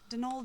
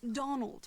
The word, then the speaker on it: Donal: the caretaker, Donald Delaney. Not Donald, mind you. There's no D at the end, so it's pronounced Donal.